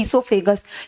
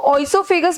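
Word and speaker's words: oesophagus: यहां पे जो ओ होता है वो साइलेंट होता है। हम कह सकते हैं the letter which does not produce any sound is called silent letter. तो यहां पे अगर हम इसको ओसोफेगस बोलते तो यहां पे कोई भी लेटर साइलेंट ना होता।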